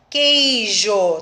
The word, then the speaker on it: queijo: Queijo. Tá vendo que o que, o U não se pronuncia?